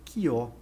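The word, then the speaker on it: Chió: Um nome estranho, mas a gente escreve Xió, mas na verdade é Quió a pronúncia.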